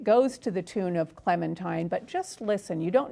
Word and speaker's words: Clementine: It's spelled Clementine but she calls herself Clementine.